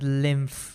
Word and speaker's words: lymph: All right, and it's pronounced as lymph with an F over there.